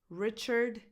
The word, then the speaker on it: Richard: Richard Gere. Richard, re, the stress goes on this first syllable, so the vowel is a lax e, as in the word it, re, churd, churd. This vowel is unstressed.